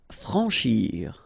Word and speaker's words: franchir: Franchir. Remember, C and H together, sh. Franchir. A-N, en.